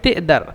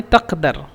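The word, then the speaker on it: تقدر: তারপরে তেদার, তেদার মানে তাকদার, তাকদির, তুমি কি পারো, মানে তোমার কি সক্ষম, এভাবে তাকদার। কিন্তু মূলত মিশরা উচ্চারণ করে তেদার।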